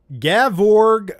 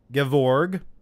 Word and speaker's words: Gevorg: go all right uh gavorg menstruas kyanion i know i mispronounced that i'm sorry gevorg i'm sorry but i